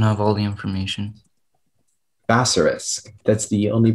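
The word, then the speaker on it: bassarisk: Basorisk. That's the only pronunciation.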